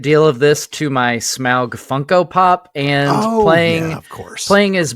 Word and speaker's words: Smaug: First off, Matt, kudos to you for helping your son get the correct pronunciation of Smaug, not Smog.